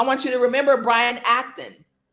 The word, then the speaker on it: Acton: I want you to remember Brian Acton. His name rhymes with action.